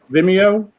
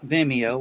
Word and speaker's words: Vimeo: is that the right way to say that vimeo yeah i've never really actually heard anybody pronounce it before yeah it's a much better